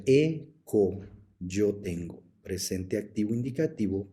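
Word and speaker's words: ἔχω: agregaremos las desinencias correspondientes la primera persona del singular es o por eso se pronuncia eco yo tengo presente activo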